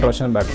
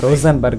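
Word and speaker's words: Rosenberg: Tommy escape ಆಗಿ ಡೈರೆಕ್ಟಾಗಿ ನಮ್ಮ ಟಾಮಿ ಮತ್ತು ಕೆನ್ ರೋಷನ್ ಬರ್ಗ್, okay, ರೋಸನ್ ಬರ್ಗ್ ಅಂತ ಅವನ ಹೆಸರು, ಸ್ವಲ್ಪ ಉಚ್ಚಾರ ಆಚೆಚೆ ಆಗ್ಬೋದು, ತೊಂದರೆ ಇಲ್ಲ.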